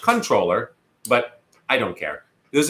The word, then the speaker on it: comptroller: hence the name comptroller which I believe is actually pronounced controller but I don't care